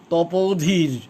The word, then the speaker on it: তপোধীর: মনে হয়েছিল যে বাহ, তপোধীর, এইরকমভাবে তিনি বলতেন। দীর্ঘ ইকার উচ্চারণ, ওকার উচ্চারণ সব ঠিক জায়গা মতো, মহাপ্রাণ বর্ণ ঠিক মতো।